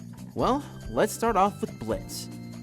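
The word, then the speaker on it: Blitzø: let's start off with blitz yo is silent if you didn't know so when we talk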